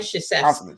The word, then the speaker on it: Krzyzewski: It's got way too many syllables and silent letters. A whole bunch of consonants. Mike Krzyzewski.